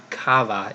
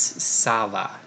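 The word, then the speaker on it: ça va: I noticed I know it's not kava its Sava so there little squiggly thing in the bottom of the sea turns the hard seat into an S sound and lastly we're gonna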